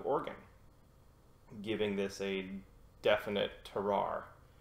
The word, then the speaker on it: terroir: Hood region of Oregon, giving this a definite terroir. How do you pronounce that word? Terroir?